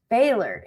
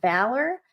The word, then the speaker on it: Baylor: I guess been saying Rich's last name wrong. Baylor. She called him Baylor and I've been calling him Fowler.